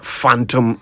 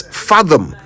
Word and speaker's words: fathom: So you must never say I can't phantom the reason. It's fathom, not phantom.